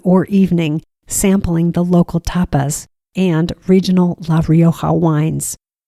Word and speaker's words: tapas: By the way, occasionally when I say tapas bars, people think I'm saying topless bars. I'm not. Tapas is spelled T-A-P-A-S.